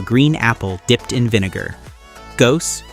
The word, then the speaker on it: Gose: Gose, pronounced go-zoo, is a German sour wheat beer brewed with coriander and salt.